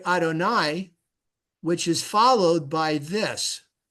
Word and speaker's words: Adonai: the but you got different vowels so it's pronounced Adonai that's it's pronounced Elohim but you can write